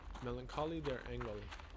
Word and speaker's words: Melancholie der Engel: Melancholie der Engel, which I took German class, yeah, that's how it's pronounced, which translates to The Melancholy of Angels,